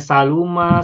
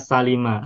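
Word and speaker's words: سَلِمَ: bagus sambil kita ingat-ingat Apa bacanya saluma Salama atau Salima Nah kalau kita sudah tahu hafal Ini yang betul adalah Salima Salima yaslamuama yasamu fail UN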